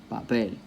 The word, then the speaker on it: papel: So one paper, the stress is on the last syllable because it ends with an L, papel.